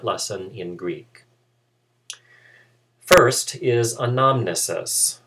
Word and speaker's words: anamnesis: in greek first is anonymousus or anamnesis to use the more familiar pronunciation in english anamnesis means remembrance or